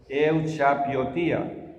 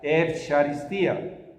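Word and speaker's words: εὐχαριστία: La palabra Eucaristía en griego, nosotros leeríamos en griego, pasaba al español, Euchapiotía, pero en realidad se pronuncia Eucharistía.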